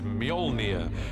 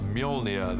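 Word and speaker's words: Mjölnir: is to work out how to pronounce it which is mjolnir uh in our movie at the moment until somebody corrects me i'm sure they will uh mjolnir the hammer this awesome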